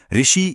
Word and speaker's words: ऋ: आम बोलचाल में ऋषि या ऋतु बोलते समय अक्सर इसे लंबा खींच दिया जाता है जिससे यह दीर्घ स्वर लगने लगता है। लेकिन शुद्ध भाषा विज्ञान के हिसाब से ऋ का उच्चारण संस्कृत से आया है और वहां इसे एक झटके में बेहद कम समय में बोला जाता है। तो व्याकरण की उस स्टॉप वॉच के अनुसार यह हमेशा एक ह्रस्व स्वर ही रहेगा।